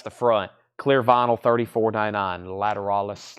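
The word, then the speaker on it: Lateralus: kiss unplugged $44.99 tool lateralis Paul pronounces it a little bit differently he says latter Alis I have Paul uh Doug I think Doug says it like I do lateralis but how does Paul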